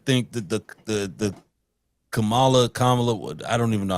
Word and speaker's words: Kamala: I I think that the the the Kamala Kamala I don't even know how to pronounce a lady's name. I feel bad every time I try to It's Kamala. Kamala. It's three syllables.